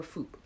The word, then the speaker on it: foop: But yeah, if it's pronounced that way, unless you pronounce fup, or foop. Bajans say foop.